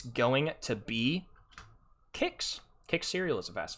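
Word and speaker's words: Kix: is not is not licks it is pronounced kicks with a k just to clarify educate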